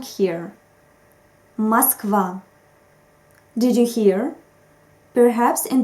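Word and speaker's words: Москва: is called vowel reduction in russian we don't always pronounce in the way we write it it depends on the stress unfortunately there are no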